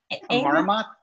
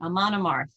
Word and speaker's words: Amon Amarth: This was Amarmoth? That's it. I always pronounce it wrong. Amon Amarth is the name of it.